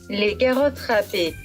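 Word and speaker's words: carottes râpées: 프랑스식 발음은 Les Carottes Rapées에요.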